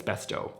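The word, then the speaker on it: Bestå: The Swedish people tell me it's besto. I've been I used to say besta and then everyone made fun of me and you know me, I usually don't care about how I mispronounce all the words because there's bigger problems in the world. But, um I think it's bestow anyway.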